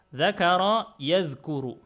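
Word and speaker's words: ذَكَرَ يَذْكُرُ: Zakaro yazkuru. Ini kemarin sudah kita kasih tahu cara bacanya ini jadinya zakaro yazkuru.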